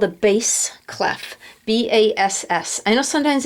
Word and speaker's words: bass: curvy thing at the beginning it's called a base clef b-a-s-s i know sometimes it pronounced bass like when it's referring to fish